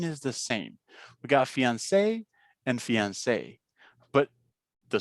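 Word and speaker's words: fiancé: just like we said it's exactly the same fiance for both of them but um yeah for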